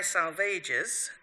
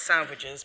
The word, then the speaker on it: Salvages: The Dry Salvages, pronunciation may sound unlikely, but Eliot tells us it should rhyme with assuages, so not salvages, but Dry Salvages, in 1941, and Little Gidding in 1942.